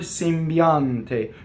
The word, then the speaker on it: sembiante: Notice we have a Y semivowel for the E, right? For the I vowel. So biante. Notice that the N doubles into going into the T, just as we had done with the M in the word empio. Sembiante. Notice that the M also doubles, right? So I have an M and an N in phonation.